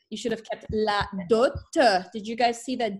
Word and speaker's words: dot: La dot, which means the dowry, is pronounced. That's an exception. There's not many words in French where we'll pronounce the final T. La dot que les parents avaient, okay?